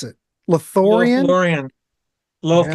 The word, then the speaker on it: Lothlorien: Um, I'm gonna pronounce it. Lothlorien. Lothlorien. Yeah, that's Lothlorien.